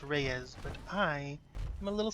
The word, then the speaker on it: Reyes: Oh, Reyes. I know it's pronounced Reyes, but I am a little stinker.